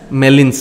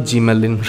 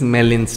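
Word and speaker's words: Gmelin: pigments is known as melin's test g is silent okay it is not gmalin right it is melin's test so test for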